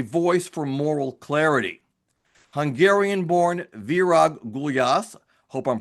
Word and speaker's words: Virag: Is it Virag, Vira? It's Virag. Virag, okay.